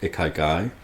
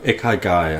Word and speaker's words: ikigai: I came across a Japanese concept called ikigai, which sometimes if you Google it appears as like a 4-way Venn diagram, 4 circles all interlocked.